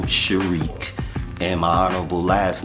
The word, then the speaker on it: Sharik: name um that they gave me is sharq and my honorable last name is is spelled love ala King equality I master and